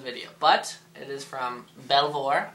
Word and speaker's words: Belvoir: but it is from belvoir or properly pronounced as bieber beaver it is their cherry